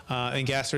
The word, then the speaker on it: Engasser: Engasser is how it's pronounced, and it's spelled Engasser.